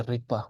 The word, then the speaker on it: Rigpa: But yeah, know that when there is a secondary suffix for this ga, it becomes a more of a sharper Rik. Okay. That's why we say Rigpa, but it's spelled like this.